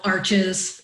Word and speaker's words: Arches: makes, which is spelled arches, and everyone thinks it's pronounced arches, but it's not. It's Arche, like Ashe.